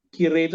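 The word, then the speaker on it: きれい: Karena dalam pengucapannya dia tidak tegas i, tapi dia seperti panjang. Kire, yume, makanya dia masuk ke kata sifat na.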